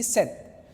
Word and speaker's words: sept: You see 17 is the set, we have already done 10. So 10 plus 7, 7 is here, S-E-P-T, set.